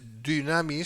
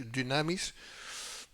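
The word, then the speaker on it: δύναμις: entendimiento de los entendidos el poder de Dios en griego es damis se pronuncia entre una u y una I damis está para hacer pedazos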